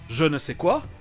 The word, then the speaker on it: je ne sais quoi: Et on trouvera le son je, c'est-à-dire sans le son de devant, dans des mots d'autres langues, comme l'expression française je ne sais quoi, It takes a certain